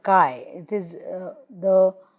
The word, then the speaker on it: Chi: a famous letter called Kai it is the it's written as Chi like this but its pronunciation is Kai so Kai Square we